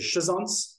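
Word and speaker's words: schizonts: they mature in into shison which I'm told by Dr Murray is the correct way to pronounce them not another way as you can imagine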